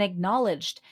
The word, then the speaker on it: acknowledged: And acknowledged. Oftentimes people forget the D in the middle of the word acknowledged. Notice that the the knowledge is with the K is silent.